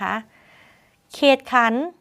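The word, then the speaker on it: เขตขัณฑ์: ธง การันต์ นะ คะ เขตขัน เขตขัน ธ ธง ไม่ ออก เสียง ค่ะ ก็ ธ ธง การันต์ เช่น เดิม นะ คะ ทั้ง หมด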